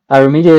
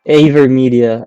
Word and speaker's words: AVerMedia: Avermedia is pronounced with the same sound as when you just say letter A.